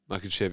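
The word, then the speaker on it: Makhachev: Makachev, yeah.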